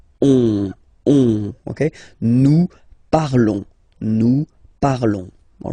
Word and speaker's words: parlons: Nous parlons, okay? Remember, final S is not pronounced, okay? And then this on together, they will give you the sound on, okay? Nous parlons, all right?